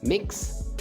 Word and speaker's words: Mx: for the first time mx is pronounced as mix all right and it's